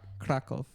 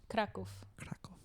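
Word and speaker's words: Kraków: lot of castles if you how is it pronounced kov kov kov okay I like it a lot of castles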